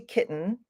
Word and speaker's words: kitten: so if you notice when I say kitten you can't hear the